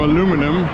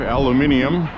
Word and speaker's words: aluminium: China right so I ordered some aluminum or as you say in Europe aluminium which is probably the correct way to say it cuz you know how